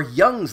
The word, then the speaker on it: Jung's: today we're talking about jung's labyrinth or young's labyrinth depending on how do you want to pronounce that guys a heads